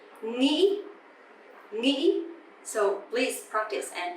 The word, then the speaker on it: nghĩ: I know it's really hard for foreigner to pronounce this tone mark, but there is no way but practicing. If you hear people from the southern accent, they would say nghĩ, a bit softer, right?